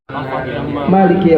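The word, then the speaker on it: مالك: ahli qiraah juga seluruhnya, para ulama semua membacanya Maliki yaumiddin, maknya panjang. Tapi kalau orang yang baca pendek itu boleh, sekedar boleh, bukan yang lebih utama.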